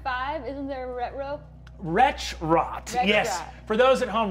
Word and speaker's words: Wretchrot: isn't there a retro wretch rot yes for those at home retro is spelled w-r-e-t-c-h-r-o-t literally the words wretch and rot put together um retro who is